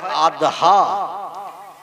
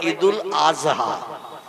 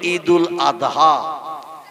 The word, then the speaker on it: ঈদুল আদহা: ঠিক তদ্রূপ ঈদুল আদহা এ শব্দটা হলো শেষে দোয়াত উচ্চারণ করতে হয়, কিন্তু ওরা বলে ঈদুল আজহা। কি বলে? মানে জয় অক্ষর উচ্চারণের মতো আওয়াজ করে বলে। আমরা বলি ঈদুল আদহা, কোরবানির ঈদ।